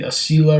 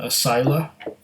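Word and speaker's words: Asyla: it the whole time it's supposed to be a seal I rather than than a sila so I correct myself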